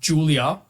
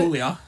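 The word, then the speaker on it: Giulia: Number 2, and this is pronounced Julia, apparently, from Stardom, also in Japan. No offense, but I'm pretty sure that's obvious. I would have called it Is it? Gulia.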